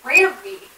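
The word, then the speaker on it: Rami: Remy Malek. Thank you. I just remember there was some interview thing, and in the little quotes, it was like, pronounced Rammy.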